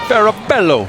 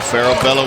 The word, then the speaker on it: Farabello: Farabello, I say it like that. Yeah. Is that how they say it in Argentina?